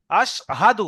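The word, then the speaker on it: أشهد: আপনার আশহাদু হচ্ছে আশহাদু হাদু হাদু দাবার হা দাল পেশ দু হাদু আশহাদু হা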